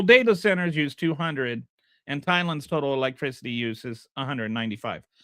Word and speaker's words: Thailand: Global data centers use 200, and Thailand's total electricity use is 195. So this, like, just data centers use more electricity than the entire country of Thailand. Remember when Donald Trump said Thailand, and then Dinesh went like to war with